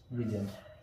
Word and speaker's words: vision: जैसे कि ये शब्द है विजन, VISION, इंग्लिश का वर्ड है विजन। तो इसमें आ रहा है SIO। इस SIO का जो प्रोनाउंसिएशन होगा वो होगा जय।